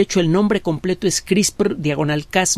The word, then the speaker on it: CRISPR: ese y de hecho el nombre completo es chris por diagonal cas 9 qué onda con esto porque